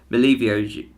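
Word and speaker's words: Milivojević: I was trying to practice last night, but Milivojevic is how you say his name.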